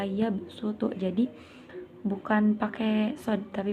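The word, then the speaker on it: يبسط: Nah, dibaca yabsutu huruf dibacanya huruf sad, dibaca sin. Wa yabsutu, jadi bukan pakai sod tapi pakai sin.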